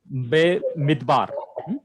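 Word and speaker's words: בְּמִדְבַּר: Be Midbar. Be mitbar. Be Midbar. Everyone say Be Midbar.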